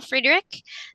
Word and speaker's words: Friederich: Hi, my name is Friedrich. That's, like one of the characters from Friends, and Friedrich, it's spelled Friday Rich.